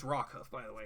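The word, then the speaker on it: Rockhoof: story about did I say his name it's rock Huff by the way it's rock Huff Mist man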